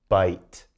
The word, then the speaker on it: bite: short vowel i so again silent e comes in bite not bitty bite going on there now you're probably getting